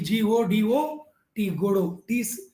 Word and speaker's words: Godot: n d a ant attendant go down d g o d o t t is silent there in guru so an attendant godot